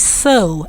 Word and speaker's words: sew: wrong way that is s-e-w is still pronounced as so and it means to